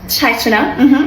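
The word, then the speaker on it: ชัยชนะ: Chai chana. Well, actually, in chai is like jai.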